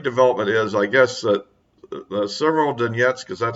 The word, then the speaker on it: Severodonetsk: The big development is, I guess, that Severodonetsk, because that's how it's pronounced.